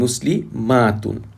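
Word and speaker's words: مسلمات: For example, muslimatun and muslimatun. In pronunciation, the only difference between the singular and the plural is the length of the a.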